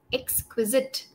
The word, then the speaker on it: exquisite: is pronounced as sit exquisite exquisite very good very good so this word has three syllables exit easy yes yeah